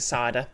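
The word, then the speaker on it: Cedar: Uh, C E D A R Yes, but he pronounces it cider.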